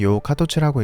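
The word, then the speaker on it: 陽華突: 일본어로는 요카토츠라고 읽습니다.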